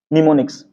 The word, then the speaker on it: निमोनिक्स: ये आपको पूछता है निमोनिक्स, NEMONICS, और इसके पहले लगा देना है आपको M होता है साइलेंट, ये हो जाएगा निमोनिक्स।